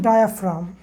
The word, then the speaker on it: diaphragm: DIAPHRAGM, हम लोग इसको पढ़ते हैं डायाफ्राम। क्या पढ़ते हैं इसको, डायाफ्राम पढ़ते हैं। लेकिन इस डायाफ्राम में जी तो है, लेकिन इस जी का प्रोनाउंसिएशन नहीं हो रहा है।